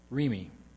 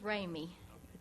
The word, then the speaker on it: Remy: Then we will have Miss Remy. Is Ms. Remy here? It's all yours. Actually, it's Ramy, the French pronunciation, but that's all right.